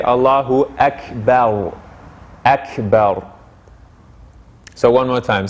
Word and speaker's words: Allahu Akbar: before it we we our tongue wants to say akbar but the to perfect the pronunciation we would say allahu akbar so one more time